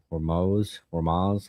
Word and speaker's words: Hormuz: now we're just focusing on the Strait of Hormuz.